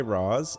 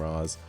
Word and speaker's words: Ra's al Ghul: Okay, so I say Raz.